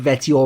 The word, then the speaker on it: Vetheo: record this help now I will probably call him ve almost certainly but I'll try to call him veto and pronounce it the way it's supposed to be now Veo Veo is